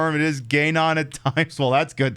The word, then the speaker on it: Ganon: It's Gayon.